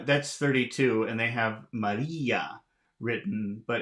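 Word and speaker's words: María: so uh that's 32 and they have Maria written but it's without an accent so it's wrong it should have an accent to indicate that e is the loudest sound in that word Maria and now we are at number 34.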